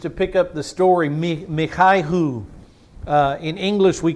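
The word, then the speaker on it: מיכה: pick up the story mikhai who in English we call his name Micah the Hebrew pronunciation of his name is so when I say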